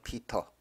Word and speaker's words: Peter: 자, 영어 발음은 사이먼 피터. 사이먼 피터가.